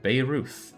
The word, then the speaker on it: Beirut: It's pronounced like Babe Ruth. What? Beirut?